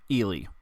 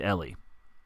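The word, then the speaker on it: Elie: During this episode, Sai mentioned the writer Ellie Viselle, but they pronounce the name Elely. So, anytime you hear them say Elely, just know they mean Ellie. All right, enjoy the episode.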